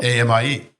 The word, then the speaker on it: ami: AMIE, yes.